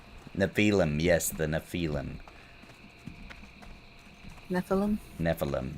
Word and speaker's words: Nephilim: Nephilim. There you go. That's how you say it.